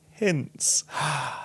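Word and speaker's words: Heinz: also awkwardly say that my last name is pronounced more like hints than the ketchup but no worries it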